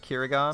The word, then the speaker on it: キリガン: Japanese pronounce it Kirigan.